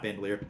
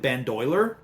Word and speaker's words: bandolier: And his bandolier, which as a kid I misread, and I would pronounce it bandoiler. I had the I before the L.